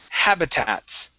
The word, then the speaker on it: habitats: And the last one for you is habitats. Okay, make sure to pronounce this S here.